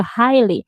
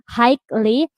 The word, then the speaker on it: highly: So it's just highly, it's like HAILE, it's that simple.